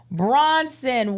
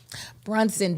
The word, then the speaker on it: Brunson: man that uh friend of the Pod quena Bronson won for lead is that I said it wrong Bronson Bronson listen BR Brunson does sound better than Braun that 40 that